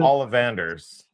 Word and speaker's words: Ollivanders: And they're like exactly like the ones you see in is it Olly Anders wand shop? Is it that's how you pronounce it? Ollivanders.